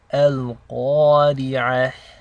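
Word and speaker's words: القارعة: So when you're pronouncing the alif in the elongation, you're making the same sound as you would when you say awesome in English.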